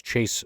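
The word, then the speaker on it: Chace: My name is Chase. It's spelled funny, C-H-A-C-E.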